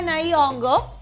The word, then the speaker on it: Nyong'o: pudimos ver entonces que Lupita Nyong'o, así ahora se pronuncia, sí, de la manera correcta, pues ella va a estar en una película próximamente.